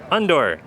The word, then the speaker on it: Undor: And how do you pronounce the company name? Undor. Well, that's handy. Just like under your door.